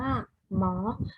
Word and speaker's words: หมอ: งู อ่าน ว่า หงอ หอ หีบ นำ ๆ หนู อ่าน ว่า หรอ เพราะ ยิ้ม นํา มอ ม้า อ่าน ว่า หมอ ดู เรา จะ ใช้